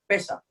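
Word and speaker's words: פסח: Efectivamente, la palabra Pascua para nosotros viene del hebreo que se escribe o se pronuncia Pesa.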